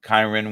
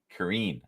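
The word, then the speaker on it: Kyren: should ask yourself uh kirn Williams you know or Karen Karen I believe is the correct way to say it Karine Williams is definitely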